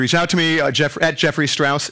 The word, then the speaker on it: Jeffrey: If you want to continue the discussion at all, feel free to reach out to me at Jeffrey Strauss, Jeffrey R-E-Y, 2 syllables, not 3.